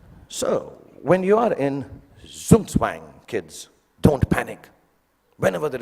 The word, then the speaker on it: Zugzwang: Then there's what they call, I don't know how to pronounce it, but sounds very cool, the Zugzwang.